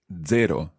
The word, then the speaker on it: zero: zero very good questionand zero in Italian is very straightforward it's zero zero zero zero it's like a DZ sound at the beginning zero zero perfeto okay now